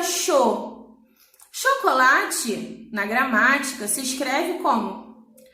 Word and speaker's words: chocolate: Chocolate, na gramática, se escreve como? C-H-O. Só que esse CH, eu falo que o colate? Não, né? Eu falo chocolate.